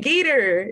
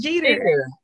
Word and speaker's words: Geter: You said Geter. It's Jeter.